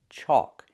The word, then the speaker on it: chalk: It has the AL, where the L is silent. Chalk. It makes the aw sound like walk and talk. Chalk.